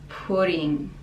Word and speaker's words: pudding: Figgy pudding. The D is very soft in pudding, and NG, again nasal sound.